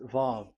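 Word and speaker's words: וָו: VAV. So it's V as in Vogue. So it's really V. How to read Vogue? So the word, the shape Vav is really pronounced V, like Vogue.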